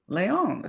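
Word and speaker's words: Layown: I So, is it Leon? Is that how you pronounce your name? Yeah. Sorry. Like L A Y O W N. Leon. Leyon. So, I said it right. Yes. Like Sierra Leon.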